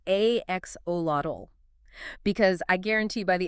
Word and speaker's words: axolotl: It's axolotl.